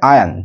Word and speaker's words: iron: Should be আয়ন আউট, এটা কিন্তু সমাধান করা উচিত, এটার উচ্চারণ হবে আয়ন, ঠিক আছে, আয়ন্ড আউট, আয়ন আউট মানে সেটাকে সলভ করতে হবে, সমাধান করতে হবে, ঠিক আছে।